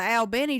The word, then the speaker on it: Albany: Well, there's also an Albany, Georgia, except it's pronounced Albany. You go down to the Al Benny, Georgia near the Thomasville and